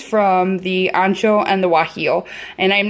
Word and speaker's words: guajillo: familiar so these are chile guajillo and that's spelled with a g for any of you who don't know and these are a